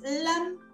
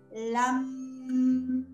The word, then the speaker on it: LAM: equilibrio en nuestro chakra, pronunciándola así como cuando los yoguis hacen OM, que pertenece a otro chakra, esa sílaba. En el chakra 1 es LAM.